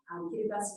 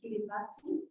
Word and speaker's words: Kiribati: ICEDS is in the Central Pacific, but there are a lot of people in Australia who pronounce it Kiribati.